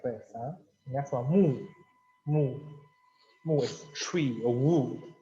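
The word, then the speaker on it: 木: That is mu, tree. And next one, this is the same pronunciation, mu, but different meaning.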